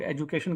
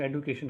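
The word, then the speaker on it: education: कुछ लोग एजुकेशन कहते हैं, कुछ लोग एडुकेशन कहते हैं।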